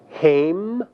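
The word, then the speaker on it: הֵם: There are two forms for the third masculine plural, haim and hema.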